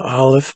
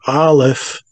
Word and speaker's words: Aleph: And we need to remember that the letter A or Aleph in our language, A, Aleph, is silent.